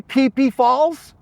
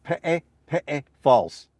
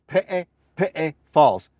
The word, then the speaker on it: Peʻepeʻe Falls: Did you say Peʻepeʻe Falls? If you said Peʻepeʻe Falls, you're clueless. You have no idea how to pronounce Hawaiian words correctly. The correct pronunciation is Peʻepeʻe Falls. Peʻepeʻe Falls.